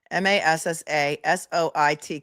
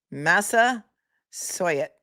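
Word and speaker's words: Massasoit: at I'm not going to even try and pronounce this. Who wants to give it a go? M A S S A S O I T Community College.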